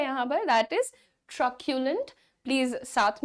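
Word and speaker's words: truculent: word बोलेंगे ठीक है टी आर यू सी यू एल ई एन T pronounce कैसे करेंगे क्या आप इसे ट्रू सू लेंट बोलेंगे नॉट एट ल the correct pronunciation is going टू बी ट्रक्यूलेंट ट्र क्यू लेंट okay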